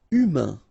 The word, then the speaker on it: humain: Humain, remember, H doesn't exist, so U, then A-I-N together, un. Humain, humain.